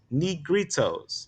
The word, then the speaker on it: Negritos: The Negritos is how you say that, is K.